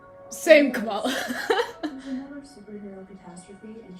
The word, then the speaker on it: Kamala: Morning. Morning. oh. Sky Traders, my name's pronounced Kamala.